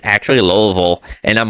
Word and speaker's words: Louisville: and corrected me and be like, it's actually Louisville. And I'm like, oh dude, this place. But after that correction, now know how to pronounce it, is Louisville, Kentucky.